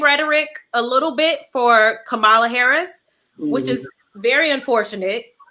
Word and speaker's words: Kamala: It's Kamala. It's Kamala. Yeah. So like a comma. I seen somebody make a shirt and it was just comma and then la.